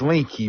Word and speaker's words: Linke: last name it's a linky linky I thought it was link but it's linky right yeah most people think the E is silent but yeah it's it's linky okay I wasn't sure